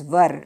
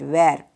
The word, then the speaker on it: were: plurals we have were it is pronounced as ver not where remember ok then what